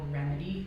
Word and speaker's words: Rymedi: For example, we're working with a company called Remedy, which is spelled Rymedi, because they're a startup and they can't spell their name without a fancy spelling.